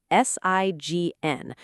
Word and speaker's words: sign: Sign is spelled s i g n, pronounced sign, rhyming with nine.